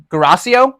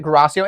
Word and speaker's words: Guarascio: Guarascio, I think is how you say it. Guarascio.